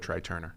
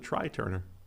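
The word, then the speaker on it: Trai Turner: true replacing him with tri turner so that's that's significant but some people some people pronounce it try turner yeah some people some people do incorrectly but incorrectly uh the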